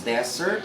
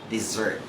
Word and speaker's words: desert: And the other one is desert, is like desierto, right? The one that you can see in Saudi Arabia. And some of my students always get mistakenly pronounce this because they say dessert.